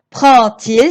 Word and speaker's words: prend-il: Prend-il ses affaires? Vous avez vu, le verbe se termine par un D, mais je le prononce T à l'oral.